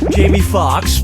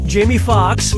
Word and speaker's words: Jamie Foxx: lead in django unchained jamie foxx jamie foxx jamie foxx or jamie foxx jamie foxx's last name has two x's in it the first x is silent step right up